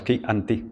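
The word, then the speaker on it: Chianti: Un buen es un buen quianti. Es qui o qui Pues yo creo que es Kanti. Es Kanti o Kanti sale separado, ¿no? Por sílabas. Ki anti.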